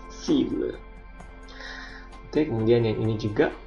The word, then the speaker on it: cible: Jadi huruf C yang diikuti oleh A dibaca A, U, O itu dibaca K, capable, sementara huruf C yang diikuti oleh huruf I atau E dia dibaca S, cible.